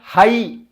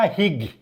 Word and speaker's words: high: तमे कहबो हला पिले देख क्लाइम तो गला हाई देख HIGH हाई ये जी उच्चारण हो पिले हाई आम जदि एटा को ठीक देखा हिग हम HIGH हिग हम किंतु ताको आम उच्चारण